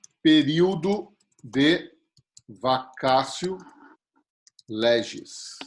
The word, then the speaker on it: vacatio: vocês aqui ó ele impõe o período de vacatio legis in e quando da instituição oi ou da majoração o doce google olá boa o que que é bacacio legends e é são aqueles 45 dias né